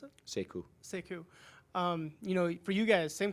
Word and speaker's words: Sekou: How do you pronounce it? Sekou.